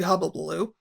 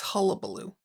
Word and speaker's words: hullabaloo: And there was a big hubbubaloo. Hubbubaloo? It's not hubbubaloo. It's hullabaloo.